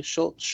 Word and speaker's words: Schultz: Schultz.